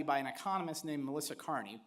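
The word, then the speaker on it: Kearney: But she was pointing to a study by an economist named Melissa Carney, pronounced the same as mine but spelled different.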